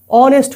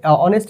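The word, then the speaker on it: honest: এখানে অনেস্ট আগে তোমাদের এান বসেছে। কারণ এখানে এইচ তো উচ্চারণই হচ্ছে না। উচ্চারণটা শুরুই হচ্ছে ও থেকে।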